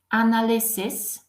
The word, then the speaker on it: analysis: and it's analysis and look at the pronunciation the ending is CIS analysis and when it's plural you can see that final I changes into e and look what happens in the pronunciation it's analyzes and we have to say C's at the end because it means plural we don't like it